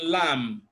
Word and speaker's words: lamb: in smart and in Lamb now you can notice that where you have MB B is silent and M is pronouned the sound f is